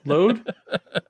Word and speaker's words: Lode: So it's L-O-D-E? Thank God. Is that what it's called? Load? Yeah. Yeah. That's how it's said. That's how it's said. That is how you pronounce that.